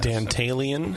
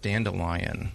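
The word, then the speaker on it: Dantalion: that that this beer started out as dantalian Dalian what is that some sort of a a demon right wasn't it this is one of our our a demon yeah often it was uh pronounced dandelion I could see that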